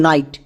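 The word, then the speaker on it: night: থাকবে যেমন এক্সাম্পল দেখুন নাইট এই শব্দে জিএইচ শব্দের মাঝে আছে শব্দের মাঝে জিএইচ দেখতে পেলেই জিএইচ সাইলেন্ট মানে জিএইচ এর উচ্চারণ হবে না তাহলে এন এন এর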